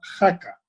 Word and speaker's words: Jaca: en los pirineos efectivamente se llama jaca como oaxaca pero sí se escribe con jota la copla es una